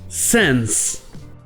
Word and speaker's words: sans: Vous avez le son A, mais c'est souvent prononcé avec le son un peu plus E, man. Et bien là, c'est pareil avec sense.